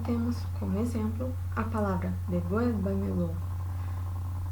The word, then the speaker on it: devuélvamelo: E aí temos como exemplo a palavra devuélvamelo. Percebam que a sílaba tônica é a antepenúltima, anterior à antepenúltima, certo?